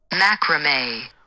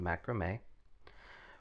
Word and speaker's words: macramé: of latin from italian macrame referring to a kind of fringe on hand towels note that both the french and italian terms here stress the final syllable while english dresses the first prior to italian macrame